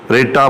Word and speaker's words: writ: sparing है कि वह डब्ल्यू आर आईटी यह जो डब्लू है यह साइलेंट होता है और यह लफ्ज़ रिपोर्ट ही पढ़ा जाता है ठीक हो गया आप